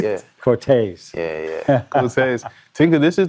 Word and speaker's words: Corteiz: How to say it, which is taser. Yeah. Only without the The yeah, you just say tase, yeah. Corteiz.